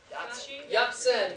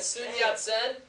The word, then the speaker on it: Sun Yat-sen: How do you pronounce this again? Sun Yat-sen. Very good. Sun Yat-sen.